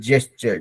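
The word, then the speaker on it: gesture: तो इट हैज टू बी जेस्चर, ज जाना वाला ज, ठीक है, जेस्चर, दैट इज वन।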